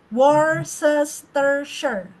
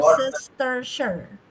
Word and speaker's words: Worcestershire: Bacanya gini, Dimas. Worcestershire. Water, Worcestershire.